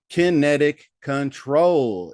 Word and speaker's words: Kinetic Control: so you better get kinectic kinetic Connecticut kinetic control is how you pronounce that ladies and gentlemen